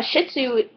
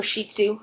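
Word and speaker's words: Shih Tzu: bit for you uh a shitsu or shitsu is how it's pronounced I have a hard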